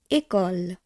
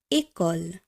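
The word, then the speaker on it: école: এই চিহ্নগুলি ব্যবহারের ফলে আমরা কোনো শব্দকে কিভাবে উচ্চারণ করছি, চলুন দেখে নিই পরবর্তী অংশটি। উদাহরণে প্রথমেই আমরা দেখব একল।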